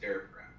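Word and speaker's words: Daraprim: I want to hear about the night where the news first came out, where you raised the price of Darapram. Yeah. Am I pronouncing that right?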